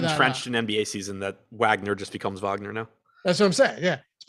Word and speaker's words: Wagner: i i called him wagner the first time but okay now whenever i see wagner yeah i'm just gonna pronounce it as the germans would yeah yeah i actually